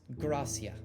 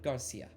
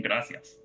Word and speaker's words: Gracia: It's not, it's Gracia, not Garcia. Can you spell that? I'm gonna do something awful. It's like Garcia, but you move the R and the A. Oh, okay. Literally, like it's like you're saying gracias. It's literally Gracia How do you spell her Samara.